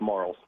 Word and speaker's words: Marls: your last name it it rhymes with Charles it's marls Marl okay all right